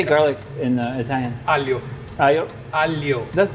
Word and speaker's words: aglio: Pasta aglio olio. Too many vowels for me. I need more consonants. And actually, it's A-G-L-I-O. But the O is silent? The G silent. Aglio. Not the O.